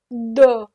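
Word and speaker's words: deux: o o is one du this x is silent the S is silent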